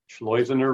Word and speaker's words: Schleusener: and hard to pronounce this is how you remember it slows inner rhymes with poisoner that's how you say it poisoner rhymes with poisoner.